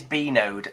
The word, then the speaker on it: Bnode: It is Bnode Limited. Bnode. Yeah. So I got it then. Yeah. Okay. Yeah. Some people say Bnode, and I'm like, oh no, it's Bnode.